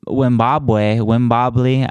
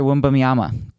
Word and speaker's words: Wembanyama: Like running towards Victor Wimbobley.